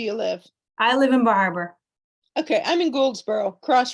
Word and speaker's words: Bar Harbor: Okay, I'm over here in Louisiana, and every time because I'm going to Bar Harbor in October, and I'm like, Bar Harbor, but y'all kind of put it together, right?